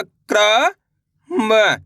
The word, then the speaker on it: क्रम: ऐसे नहीं पढ़ना करम। अगर आप करम पढ़ दोगे तो रा का पूरा उच्चारण निकल जाएगा। कैसे पढ़ेंगे? क्रम। यानी कि तेजी के साथ इसका उच्चारण निकालेंगे।